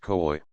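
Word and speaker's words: cui: or quad because pronoun kui pronounced COI one syllable interrogative pronoun that sing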